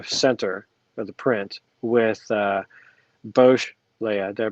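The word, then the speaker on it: Boushh: Their suggestion is to remove Luke and Leia in the center of the print with Bosch Leia. Did I pronounce that right? Yeah, Bush.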